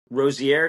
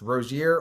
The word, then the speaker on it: Rosier: Today, we have a very special guest, Malik Rosier. Did I pronounce that correctly? Pronounce it the French way. So there's actually two ways. It's Rosier or Rosier. For me, it doesn't matter, Okay, but you pronounced it right.